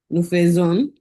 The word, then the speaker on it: faisons: Look at the pronunciation. The AI is O there. I told you that pronunciation when I told you phonetics that for the verb faire at the imperfect level, that AI become like le.